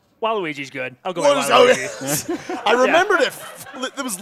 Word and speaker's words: Waluigi: I'll go with Waluigi.